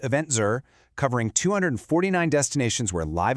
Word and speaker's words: Eventz: Welcome to Eventful Saudi Arabia, part of the Eventful World 2026 series by Eventz, pronounced EventZur, covering 249 destinations where live events define the travel experience.